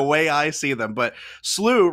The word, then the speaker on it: SLU: correcting me on this it's slew they say everyone's saying slew not slu i'm an old man